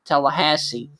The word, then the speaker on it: Tallahassee: just south of Electric and over here towards Tallahassee. I think that's how you pronounce that.